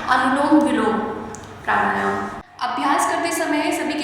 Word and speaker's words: अनुलोम विलोम प्राणायाम: कुछ लोग इसका उच्चारण ही गलत तरीके से करते हैं, कुछ लोग इसको लोम विलोम के नाम से जानते हैं, लेकिन इसका सही उच्चारण होता है अनुलोम विलोम प्राणायाम।